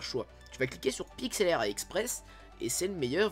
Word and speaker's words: Pixlr: monde, et tu tapes PIXLR, donc ça se prononce PIXLR.